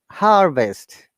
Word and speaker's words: harvest: hello azzett welcome uh look at the ipa uk h a double dot v i s t there is no r sound and u s h a double dot that is r and that is v and there's schwa sound so it is harvest in american accent but